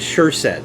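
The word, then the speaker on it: Sjurset: was spelled s-j-u-r-s-e-t and the j was like an h sound so nobody could pronounce the name but it was sure set that's how it was pronounced steve sure said he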